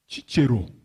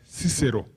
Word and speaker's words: Cicero: jumped with human beings chi chiro though some people pronounce him as cicero but in latin we pronounce him as chichiro he said simple minds